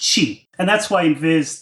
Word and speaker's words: Qi: Now isn't it yeah so the old spelling Chi and then the new spelling is Qi both of these are supposed to be pronounced the same even though the the spellings look really different in English it's just Chi and that's why in